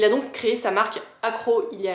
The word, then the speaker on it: Akro: suite avec deux parfums d'une marque qui s'appelle accro ça s'écrit Akro c'est une marque française qui a